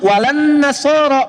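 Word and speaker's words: ولا النصارى: Cuman kita bacanya pakai e kan alif lamnya syamsiyah tuh ya. Lamnya masuk ke nun. Walan nasaro. Padahal itu tulisannya la wala annasara.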